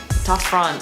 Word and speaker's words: Ta Prohm: She says Ta Phron, I say Ta Prohm. tough front, because my Cambodian friends taught me how to pronounce it.